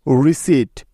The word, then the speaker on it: receipt: এছাড়াও এই তিনটি শব্দে পি লেটারটি সাইলেন্ট থাকে, যেমন কু, COUP, কু, কু মানে অভ্যুত্থান। এবং রিসিট, RECEIPT, রিসিট।